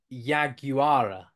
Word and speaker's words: yaguara: language um uh and they pronounce it yaguara so so four syllables for them and that literally means